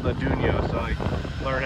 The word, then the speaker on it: Atunyote: I've ever seen because it's actually called the dunyo so I learned how to say it we're